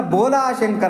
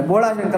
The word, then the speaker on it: ಬೋಲಾಶಂಕರ: ಮುಗ್ಧತೆ ಬರುತ್ತೆ ಅದಕ್ಕೆ ಅವನನ್ನ ಬೋಲಶಂಕರ ಅಂತ ಕರೀತಾರೆ ಬೋಲ ಎಲ್ಲರ ಬೋಳ ಶಂಕರ ಬೋಳ ಶಂಕರ ಅಂತಾರೆ ಬೋಳ ಶಂಕರ ಅಲ್ಲ ಅದು ಉಚ್ಚಾರಣೆ ಲೋಪ ಅದು ಹಂಗೆ ಅನ್ನಬಾರದು ನಾವು ಬೋಳಾಶಂಕರ ಅಲ್ಲ ಬೋಲಾಶಂಕರ ಬೋಲ ಅಂತಂದ್ರೆ ಏನು ಅಂದ್ರೆ